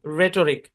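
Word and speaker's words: rhetoric: শব্দের শুরুতে আর এইচ যদি একসাথে থাকে তাহলে এইচটা সাইলেন্ট। যেমন এই শব্দের উচ্চারণ রাইম, রিদম, রেটরিক, বুঝছেন?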